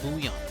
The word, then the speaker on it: Bouillon: It says just to pronounce it Bouillon. Just ignore the L's because it's French.